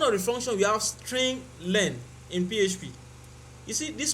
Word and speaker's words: strlen: One of them is strlen, which is the real pronunciation is string len.